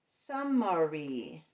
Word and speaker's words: summary: First syllable, sum. Second syllable, ma. Last syllable, re.